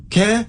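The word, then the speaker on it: Kerr: people with the surname k r r and some of them are pronounced K and some are K and also car is another one well no okay well K okay yeah fine care yeah I could buy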